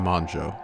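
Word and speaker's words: Mongeau: his material on tana manjo side note i'm probably the first male youtuber to ever pronounce her name properly it's not that hard guys it's just the o sound it's a fringe thing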